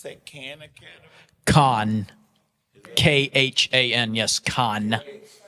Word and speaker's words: Khan: KHAN, yes, Khan. It's pronounced Khan, correct.